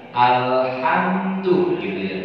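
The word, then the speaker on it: الحمد لله: alhamdulillahirobbilalamin ya Tuhan jangan sampai ngeluarinnya dari rongga ada pangkal namanya tuh nanti hurufnya masuknya ke dalam huruf H Alhamdulillah jangan sampai kedengaran Alhamdulillah maka dia pengucapannya kalau H itu adalah pada tengah-tengah tenggorokan beda dengan Alba ya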